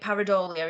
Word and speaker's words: Pareidolia: But yeah, I do think it was it Pareidolia?